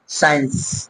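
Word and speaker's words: science: সি আসলে, মানে অর্থাৎ এস এর পরে যদি সি আসে তখন কিন্তু সিটা কি থাকে আমাদের সাইলেন্ট থেকে যায়, যেরকম সায়েন্স, এখানে কিন্তু সিটা কি আছে সাইলেন্ট আছে, সায়েন্স।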